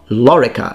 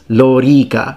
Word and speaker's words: lōrīca: i hate it because it's not lorica it's laurica both vowels are long lo rica the rule of the